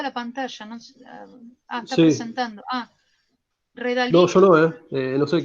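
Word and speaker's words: Redalyc: Después una que se llama Redalic con Y. Redalic. R-E-D-A. Está compartida la pantalla, ¿no? Está presentando. Redalic.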